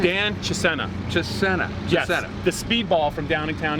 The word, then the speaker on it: Chisena: Chisena.